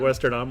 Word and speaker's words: Westerdam: americ H in americ westerdam or vardam depending on whether you're a Dutch or not and then also she